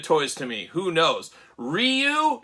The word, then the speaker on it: Ryu: I mean because uh on the old playground the old arcade when I was a kid you didn't know how to pronounce their name so it was rayu but apparently it's Ryu so so who knows